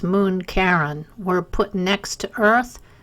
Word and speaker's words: Charon: big moon named Karen I know it looks like Charon but it's pronounced Caron and four tiny moons